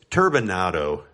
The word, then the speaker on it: turbinado: Coronado or rap Dura let me just pause right here for a moment to pronounce these three types of sugars correctly it's turbinado Demerara or rapadur either either those those are